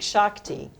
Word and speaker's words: Shakti: So the Unilever, it's called Project Shakti. It's spelled like it sounds in India.